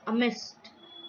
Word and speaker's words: amidst: The word is amist, or amid, or amist.